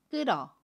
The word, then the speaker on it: 끓어: 해요 또 다른 해볼게요 끌어 를 보면 밭 치밀히 흙과 모음 어가 만납니다 그러면 뜨러 라고 발음 해요 받침 히 s 는